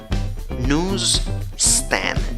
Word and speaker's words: newsstand: En el primer caso, ves que en la primera sílaba tienes la vocal de la U con trompita, nu, pero tienes Z, aunque la escritura es con S.